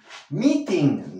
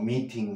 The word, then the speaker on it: meeting: montiel next fraile mili meeting no mitin no recuerda que tenemos sonidos vocálicos y siglas de eta